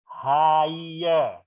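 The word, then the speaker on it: hire: lagi dulu Kyle ini ini cara membacanya ini dibaca Haye Haye ya oke thank you can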